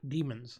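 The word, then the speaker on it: daemons: in animal familiars called demons da e mo NS yeah demons so same pronunciation slightly different spelling from what we're used to basically a demon is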